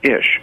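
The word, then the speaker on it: אִישׁ: no no the word man in Hebrew is ish I sh is pronounced a she is H is man in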